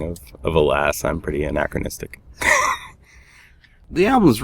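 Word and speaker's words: Hélas: Yeah, people pronounce it halas or helis or whatever, but it's alas. It's the anacronistic spelling of of alas.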